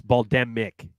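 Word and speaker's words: Bal'demnic: The N you do not pronounce in terms of the audiobook. It's just the way it's Baldemic. Baldimnik. So there's no, you don't say the N.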